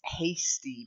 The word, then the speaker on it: hasty: and the next one isn't like pasty its hasty because it comes from the verb to hasten and haste make haste